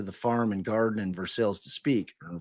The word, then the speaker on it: Versailles: When Click called JB, uh he pulled over into the farm and garden in Versailles to speak or Versailles. Uh I think in Indiana they pronounce it for sales.